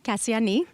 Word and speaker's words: Kassiani: Now, is short for, you have to pronounce her name for me. Kassiani. Kassiani.